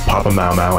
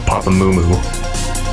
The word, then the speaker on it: Papa Mau Mau: We have Mastronaut and Cognito going out, being replaced by Danish Pepsi and Papa Mau Mau. Yes, it's pronounced Papa Mau Mau and not Papa Moo Moo.